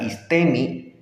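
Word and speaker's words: ἵστημι: corroborando que aquí estte que es como se pronuncia istemi en este contexto y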